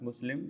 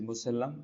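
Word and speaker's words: مسلّم: The Urdu meaning is Musallam. It is not Muslim. You try to pronounce it correctly. It is Musallam and Sarih means acceptable and undeniable thing.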